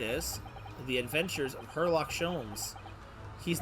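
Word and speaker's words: Sholmes: i mean i have that's not how you pronounce that i have hair please call me scholes i don't want to call you anything when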